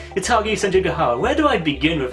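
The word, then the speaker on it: Hitagi Senjougahara: And the very first one involves him encountering Hitagi Senjuga. Yeah, I'm pronouncing that right. Hitagi Senjuga.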